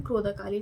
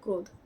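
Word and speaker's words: Krodhakali: It's written Krodakali, it's not Krodh.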